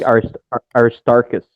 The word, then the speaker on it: Aristarchus: think Aristarchus.